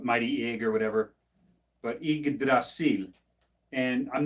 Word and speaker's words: Yggdrasil: It's Yggdrasil, as in Ig, and you'll see in a lot of cases Ig refers to Odin too when they talk about mighty Ig or whatever. But Yggdrasil, and I'm not the